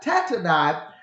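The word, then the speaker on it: Tattenai: i the governor and let me make sure i'm pronouncing his name correct i believe that's right yeah tack nine or tatana tat tatanai the governor of the region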